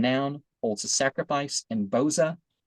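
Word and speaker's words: Bozrah: For God is verb and noun, holds a sacrifice in Boza. Putsra is how that's pronounced.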